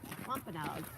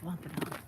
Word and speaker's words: Wampanoag: I was like, oh my god, Wampanoag. It's not that complicated, people. W-A-M-P. Wom. A-N-O-G. Oh, gee. Wampanoag.